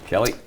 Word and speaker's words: Kali: yeah of course Tim it's pronounced Kelly Metals Kelly but uh we're entered